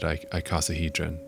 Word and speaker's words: icosahedron: into the like scuba bell looking thing, and inside there is that shape, that truncated icosahedron.